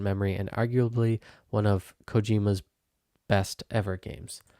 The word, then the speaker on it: Kojima: and arguably one of Cojima's best ever games. Why do I keep saying it wrong? It's Hideo Cojima. Cojima, but I'm saying Kojima and arguably one of Cojima's Kojima's Cojima Cojima's best ever games.